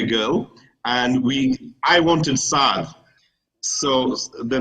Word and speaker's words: Saad: you need to consider how Saad is going to be pronounced in the playground, because the non-Muslims are going to see his name as Sad. Yeah. If it's spelled S-A-D with apostrophe, Ad with an Ain, or if it's going